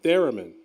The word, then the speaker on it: theremin: control with your hands is it theremin or Tarun theremin Thank You Aaron Aaron's corrected me right here on the